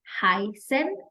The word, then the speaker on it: heißen: represents double S, and it is pronounced in the same way that you would pronounce double S. Okay? And so, for example, remember to repeat after me. Heißen, gießen.